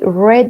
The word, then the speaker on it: read: She read the book. She read. Entonces, escribe lo mismo, pero se pronuncia diferente en pasado, como el color rojo, red, ¿ok?